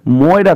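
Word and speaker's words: Moira: পরে দেখতে পাবো সে মৌরিয়াকে বলছে মৌরিয়া মানে মায়ের খবর নিচ্ছে এখানে বলছে কোথায় এখানে তোমাদের একটা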